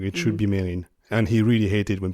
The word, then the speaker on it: Mesrine: him I remember Missin and it should be pronounced Marin but the media has always referred to him as mesin so that's the name I've always heard so